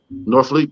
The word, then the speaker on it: Norfleet: How you pronounce that name? Norfleet.